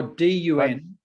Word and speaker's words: Dun: Well, you see, D-U-N, Dun is son name. Dun, D-U-N. Yeah. That is a Burmese name, a Korean name. Oh, D-U-N.